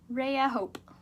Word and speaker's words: Rayahope: Rayahope.